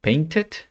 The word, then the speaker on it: painted: a ser silenciosa cuando si debes pronunciarla sería en palabras que terminan en acciones que terminan en t por ejemplo painted Okay en este caso sí tienes que pronunciarlo porque si no lo pronuncias sería como el presente Paint y en el pasado si dices de nuevo Paint entonces ves no sería la acción del pasado entonces debes decir debes decir painted okay esa sería una